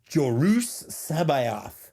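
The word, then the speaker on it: Jorus C'baoth: Jedi Master Soul Cassian Andor Dean Gara and jorus sabath which I learned is how you pronounce his name the fact that it's the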